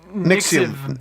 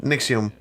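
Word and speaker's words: NXIVM: Nixium. It is a U. Nixium.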